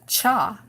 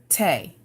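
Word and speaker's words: 茶: of China for instance the Chinese character for tea is pronounced cha by the northern Chinese in my hometown in southeast China it is pronounced we pronounced it Tay and in most parts of my home Providence people pronounce it show the same Chinese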